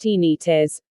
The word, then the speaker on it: tinnitus: heart palpitations lethargy tinnitus tinnitus pronounced teeny tis or ringing in the